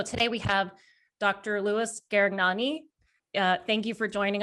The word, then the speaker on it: Garegnani: My last name is pronounced Gaticnani.